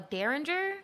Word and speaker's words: derringer: A derringer? Is that how you pronounce it? Thank you, yes!